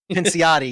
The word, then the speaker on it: Pinciotti: Pinciotti, yeah, there we go. That's how you pronounce that.